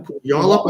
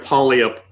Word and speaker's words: Puyallup: Puyallup. I went to a convention there with David. We went to Comic-Con there, and the whole weekend we were saying the name wrong. Wallop. Well, we're calling it Polyup.